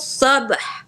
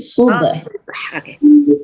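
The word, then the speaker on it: صبح: ma asabahum inna maw'idahumus sabh alaysa bukan sab tapi subh.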